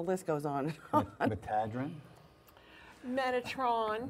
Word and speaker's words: Metatron: Metadrin? Metatron. Metatron, oh my goodness. Mostly known as Metatron, Tommy, okay. but you do pronounce it differently Metadrin.